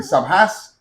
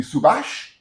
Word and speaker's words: Subhas: called subass subass it could be subass Sabas to be subash he needs an H on the end okay why I call